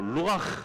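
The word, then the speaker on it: רוח: 되는 것입니다 그래서 구약에서는 이거를 이제 히브리 말로 루가 이렇게 불렀습니다 발음이 좀 괜찮죠 그래도 좀 제가 보기에도 발음이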